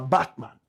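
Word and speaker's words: Bartman: Find me a photograph of or a painting of Sarah Batman. Sarah is spelled S A R A.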